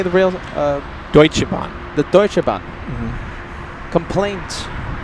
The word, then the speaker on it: Deutsche Bahn: Deutsche Bahn.